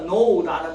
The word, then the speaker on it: know: do you know 할 때 K 묵음이니까 know라는 말은 알다라는 그러니까 메타 노이에테라는 말은요.